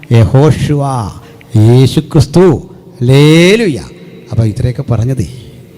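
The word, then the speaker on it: יהושע: പേരെന്താ ജീസസ് പോട്ടെ അപ്പോ കൃത്യമായ ഉച്ചാരണം എങ്ങനാ യഹോഷുവ യേശുക്രിസ്തു ഹല്ലേലൂയ അപ്പോ ഇത്രയൊക്കെ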